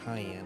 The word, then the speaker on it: Cyan: try I don't the Japanese say his name is cayenne like cayenne pepper but it was too long to fit in six characters or something you know